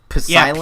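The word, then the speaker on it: Psilence: Wait, I noticed a P sound. Is Silence P-S-I-L-E-N-C. Like spelled with a P?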